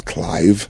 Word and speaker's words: Clive: the coffee Clyde right my name is not Clyde it was Clive Clive like Clive Davis and they couldn't pronounce